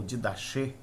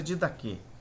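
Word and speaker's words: Didaché: chamado di que ou did da che mas é did da que é ch se pronuncia did daqu que observava que enquanto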